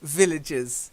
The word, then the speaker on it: villagers: Villagers. Yeah, villagers. So a little bit of stress on that first syllable, vil, and then udges, villagers.